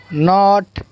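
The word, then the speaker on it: knot: उसके बाद के साइलेंट देखेंगे, new, knee, knife, night, नॉब, नॉट, neck, नो, निटीर।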